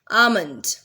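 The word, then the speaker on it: almond: आमंड, L pronounce नहीं होगा।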